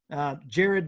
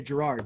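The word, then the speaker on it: Gerard: you is an expression of the Catholic imagination Jared Manley Hopkins in America you say Girard but he was British so it's pretty actually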